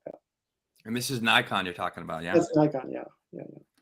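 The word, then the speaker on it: Naikan: that and this is nikon you're talking about yeah yeah yeah and that's spelled the n-a-i-k-n is that right yeah n-a-i-k-a-n and it's pronounced like the camera nikon okay cool uh john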